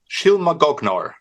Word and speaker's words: Shylmagoghnar: Shylmagoghnar. Yeah, I would have never got that. Thank you. It's So, go ahead. Shylmagoghnar.